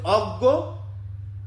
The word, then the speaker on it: অজ্ঞ: আপনি যদি জ্ঞান বলেন তখন প্রথমে যুক্ত ব্যঞ্জন লাগাচ্ছেন, তখন হয়ে যাচ্ছে গয় চন্দ্রবিন্দু। আর যখন বলছেন অজ্ঞ তখন হয়ে যাচ্ছে গয় গ উচ্চারণ।